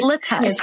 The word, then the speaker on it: LaTeX: It's pronounced LaTeX. It's pronounced LaTeX, yeah.